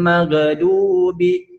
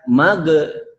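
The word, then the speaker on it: مغضوب: Maghdu itu ghin bukan yang qalqalah, tapi bacanya itu harus jangan dipantulkan. Ghairil maghdubi, ghairil maghdubi. Jadi tempelkan saja akar lidah dengan anak lidahnya itu ditempelkan saja. Maghdubi, tidak magedu, tidak dipantulkan tapi nempel.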